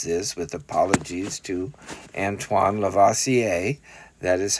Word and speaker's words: Antoine Lavoisier: and basically it says this with apologies to Antoine Lavoisier that is how you pronounce his name that matter can neither be